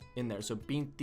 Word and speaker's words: vinte: How do I forget that the T E or the T I is a ch sound.